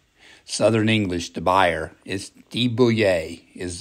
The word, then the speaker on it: de Buyer: english the buyer is de-bouillier is the proper pronunciation of this company this is french we're going to be